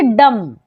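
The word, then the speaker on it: dumb: तो क्या पढ़ेंगे कॉम डम यहां पर भी बी एम के बाद आया है तो बी को नहीं पढ़ेंगे तो क्या पढ़ेंगे डम अब यहां ध्यान दीजिए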